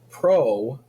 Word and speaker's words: pro: was bacteria right and pro think of rhymes with no okay it lacks a